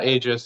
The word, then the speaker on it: Aegis: So is that so where you got your design for or your design ideas for Aegis from am I pronouncing that correctly? Yeah, Aegis, Aegis, Haggis, doesn't Oh, matter.